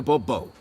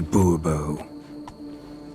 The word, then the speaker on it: Bourbon: yet as monsieur de bobo fine monsieur de bourbon the emphasis falls on the last syllable see now i'd rather